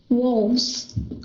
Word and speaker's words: wolves: can you read that wolves okay now listen to the z sound the S sound at the end of the word wall is a z sound your tone of voice